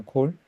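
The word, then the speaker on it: כל: 2번 문장 사파라도나이코크베샤마이파도나마샤마 백감야다 에콜하츠 백담 칼야자 칼이 아니고 콜입니다. 콜 자 자 배는고 감은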